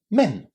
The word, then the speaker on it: men: This is pronounced with a short e. Men just as the vowel sound in the word bed. Men.